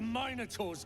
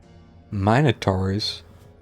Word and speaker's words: Minotaur: Hope the minotaurs get them. Minotaurs. I am not pronouncing it that way. It's Minotaur.